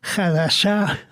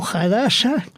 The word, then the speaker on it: Hadassah: organización que se llama, depende cómo lo pronuncien, si son askenazíes o sefardíes, Hadassah o Hadassah, la cual va a